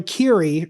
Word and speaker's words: Keery: I had no idea that Joe Joe Keery, right? That's how his last name's pronounced.